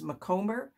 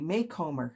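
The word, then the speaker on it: Macomber: I will tell you that I always thought it was McComber, but I attended a conference at one point and she was the keynote speaker and it was Debbie Maycomer.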